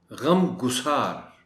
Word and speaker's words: غم گسار: خاص توجہ چاہیں گے۔ غم گسار، گاف پر پیش کا خیال کیا جانا چاہیے۔ غم گسار، باعث این